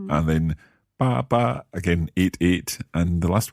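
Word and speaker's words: 八: Ba in Mandarin we pronounce as ba. However, in Cantonese is fa.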